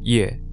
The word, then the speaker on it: yuè: the word for south in Chinese, and Viet, pronounced Ye in Mandarin, in reference to who the Chinese referred to as the 100 Ye, the various ethnic groups which occupied what is